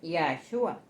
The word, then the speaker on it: Yahshua: luego nombre revelado bien en arameo el nombre se pronuncia yeshua en hebreo es yahshua correcto Ese es el